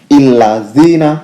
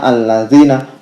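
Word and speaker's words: الذين: Lalu kenapa untuk contoh ini itu katanya bukan illazina tapi itu dibacanya allazina?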